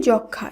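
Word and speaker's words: যক্ষ্মা: ফলার উচ্চারণ হবে না যেমন দেখুন যক্ষা এই শব্দটিতে যুক্তবর্ণ রয়েছে খিয় যেটিকে ভাঙলে আমরা পাবো ক মধ্যাস এবং তার সঙ্গে যখন ম ফলা যুক্ত হবে শব্দটিকে যখন আমরা শুদ্ধভাবে উচ্চারণ করছি সেই উচ্চারিত শুদ্ধ শব্দে কিন্তু ম ফলার উচ্চারণ হবে না একইভাবে সূক্ষ এর শুদ্ধ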